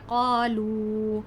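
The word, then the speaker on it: قالوا: ہے قالو، ہے نا، واو مدہ کہتے ہیں اس کو ہم نے کھینچ کر پڑھنا ہے. اس کو اگر ہم ہجے کریں تو بنے گا قاف الف زبر قا، لام واو پیش لو، اور واو مدہ کو کھینچ کے پڑھنا ہوتا ہے.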